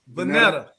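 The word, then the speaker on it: Vonetta: okay go go go how do you say her name vanetta her real name is vanilla jefferies that was her that was her high school name she got married v-o-n-e-t-t-a flowers vanilla v-o-n-e-t-t-a vanetta yeah yeah you sound like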